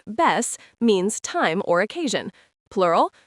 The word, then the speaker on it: vez: The word vez, pronounced ves, means time or occasion.